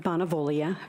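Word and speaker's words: Bonavoglia: she reads the Nam that silent G is very tricky um my name is bonavia b o n a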